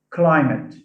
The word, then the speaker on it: climate: So when we add IC to words like climate, now where does stress fall in climate? On the A. First or second syllable?